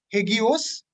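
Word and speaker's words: ἅγιος: In the New Testament, the word holy is pronounced as hagios, which means set apart or reverent or again sacred or worthy of veneration.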